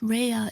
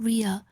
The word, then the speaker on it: Rehea: I am rehea my last name is pronounced rehea it's not Ria nice to meet you